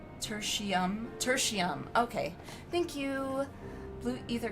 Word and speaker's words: Tertium: I think it's pronounced tertiary. Tertium.